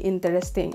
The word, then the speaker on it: interesting: So, meron tayong tinanggal na syllable. Hindi interesting. It should be interesting.